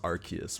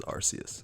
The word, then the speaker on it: Arceus: And yeah, I know it's pronounced Arceus, but it doesn't sound as epic as Arceus.